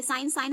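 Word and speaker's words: sign: ई से ए की मात्रा, और जी तो साइलेंट ही है, एन से हो गया ना फॉरेन, ठीक। ये साइन हम इसे क्यों पढ़ रहे हैं, क्योंकि यहाँ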